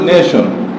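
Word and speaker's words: nation: এর পরে আই ও এন থাকে তখন এর উচ্চারণ হয় কি যেমন আমাদের নেশন এন এটি আই ও এন নেশন আমরা কি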